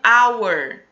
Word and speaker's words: hour: An hour.